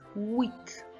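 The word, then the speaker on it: huit: set set eight is wheat wheat do not pronounce the h the h is silent on wheat eight is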